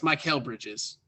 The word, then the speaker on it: Mikal Bridges: It's Mikal Bridges in Phoenix, right? Yes, that is how you pronounce his name. Yes, Mikal Bridges drops 11.